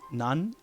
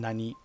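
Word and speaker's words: 何: The Japanese question word for what has two pronunciations, nan and nani. Nan is used immediately before des, or before a counter like ji, like nanji. The other form, nani, is used before a particle.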